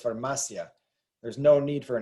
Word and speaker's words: farmacia: right here on that eye but it's not pronounced that way it's farmacia there's no need for an accent mark um